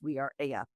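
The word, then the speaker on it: We Are Ella: It's spelled Ella, ELLA, but pronounced We Are Aya.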